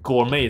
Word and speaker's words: gourmet: ？It just so happens that，然后接下去，cool。Delicacy 美食，其实美食有很多字可以说，像 gourmet 这个词也可以。甚至可以被理解为美食家，那 T 这个字就不发音。那料理上的就 culinary 或者 culinary，料理上的，OK。那甚至还有一个词，我也不会说很少看得到，有时候比较假掰的人会写出来这个词，gastronomical 也是美食方面的，因为